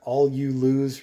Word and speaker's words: allulose: flavoring you know the allulose that's in here all you lose remember that's how it's spelled is a sweetener that